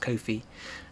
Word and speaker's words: Ko-fi: I've been told that it's pronounced Ko-fi.